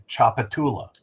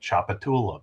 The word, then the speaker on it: Tchoupitoulas: don't want to die, learn to say Tchoupitoulas cuz that's the name of the street, Tchoupitoulas, but it's spelled like you can't even pronounce it. You're like, I'm trying to get to Tchoupi- Tchoupitoulas uh street.